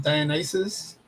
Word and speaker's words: Dionysus: has something to do with the Greek god Dionysus. Nate, how do you say that? Dionysus. I think you got it right, Dionysus.